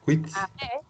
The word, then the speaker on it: cuit: T-S, cuit. Parce qu'après, on va l'entendre. Voilà. Mais sauf que ça, c'est cuit. Voilà. On prononce cuit.